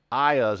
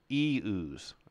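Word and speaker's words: Ioun: and stuff like that I always call this I us but it's use or E ooze so it's like the letter e and then ooze like ooze so ayaz is completely wrong it's eus all right all right let's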